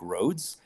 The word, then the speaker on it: Rohde: spell the surname and a lot of people spell it r h o d e almost like roads but is r o HDE so it's not